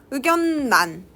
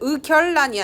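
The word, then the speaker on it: 의견란: 의견난, 니은이 만났는데 의결난이 아니라 의견난이라 그래요.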